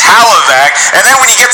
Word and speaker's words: Hlavac: Adam can't even pronounce his last name properly. It's Hlavac.